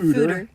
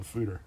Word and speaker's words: foeder: Apparently it's pronounced Anywhere fooder.